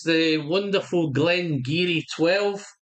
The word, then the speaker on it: Glen Garioch: H it's spelled Glen Glen Gario but it's pronounced as Glen giri as the channel folks it's been one of